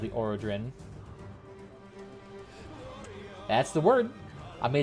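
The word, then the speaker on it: Arothron: I'm not the one that's that's how it's pronounced, apparently. Aerodrin, even though it's like Aerothorn or something like that, but Aerodrin apparently.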